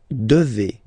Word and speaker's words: devez: Okay, and then, vous devez. Remember, classic ending. For vous here, a Z, but then you pronounce this combination of two letters, E, devez, devez, vous devez.